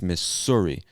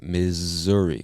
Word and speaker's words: Missouri: if you're reading this you see the two s's and you might think it's miss suri but we pronounce it missouri with like a z sound missouri and missouri is